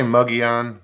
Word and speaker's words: Mogollon: the yawn the ls the double l is like spanish free like the uh sound oh um but it's me yeah it's pronounced some say muggy on but i i've been saying mogi on i've heard it said